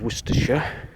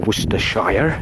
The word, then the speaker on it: Worcestershire: over there this is in the county of worcestershire or worcestershire if people want to do their pronunciations worcester worcestershire as some people might say